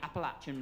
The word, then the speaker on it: Appalachian: I need to pronounce it properly. The Appalachian Mountains.